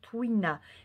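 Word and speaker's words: tuina: ne connais même pas ça se prononce twin à est une forme de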